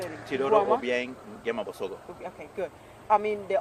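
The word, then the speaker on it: Teodoro Obiang Nguema Mbasogo: Teodoro Obiang Nguema Bosogo.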